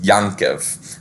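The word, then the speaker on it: יעקבֿ: Polish phonology is that Yakko for what we would know as Jakob is actually pronounced yankov hence we get yong-chol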